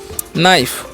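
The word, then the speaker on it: knife: जाता है ठीक है और के नाइफ है तो इस क्या नाइफ नहीं नाइफ पढ़ेंगे क्या पढ़ेंगे नाइफ और नाइफ मतलब क्या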